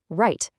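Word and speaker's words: write: If a written word starts with WR, that W is totally silent. Right, wrong, rap.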